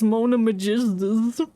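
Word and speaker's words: Mona Megistus: do her homework well it's not that hard to pronounce It's Mona Magistas ah he must be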